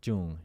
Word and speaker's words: Truong: I always go by Truong because that's the easiest, right? But the correct pronunciation of my last name is Truong. Truong.